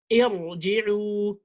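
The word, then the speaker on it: ارجعوا: So I say irji'u, even though I have a kasra before the ra, I pronounce the ra as a heavy letter.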